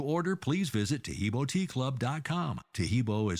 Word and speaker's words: Taheebo: disease due to infection diabetes or cancer tahibo tea club's original pure power Super T helps